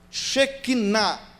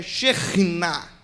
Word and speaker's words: shekinah: e na hora errada por exemplo shekinah certo da pronúncia é xenina e o que significa